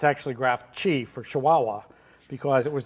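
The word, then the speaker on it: GraphChi: a system so you think this would be pronounced graph Chi but if not it's actually graph G for Chihuahua because it was designed for smaller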